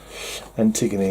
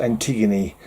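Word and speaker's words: Antigone: Antiggony. Is there a So, you might be tempted to say Antiggon, but I'm pretty sure it's pronounced Antiggony.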